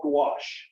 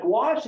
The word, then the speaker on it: gouache: use a paint called gouache I tell kids it rhymes with squash that's how you can remember it but gouache is a water-based paint